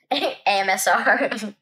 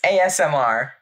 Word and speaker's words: ASMR: AMSR. AMSR? That's the wrong lettering. Wait, what? It's ASMR.